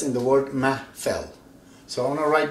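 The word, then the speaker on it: محفل: Of course it has to have an H here, something you don't pronounce very well, but we do, ma, fell.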